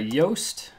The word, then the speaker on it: Yoast: In the search bar, type in WordPress SEO by Yoast. It's spelled like toast, only with a Y.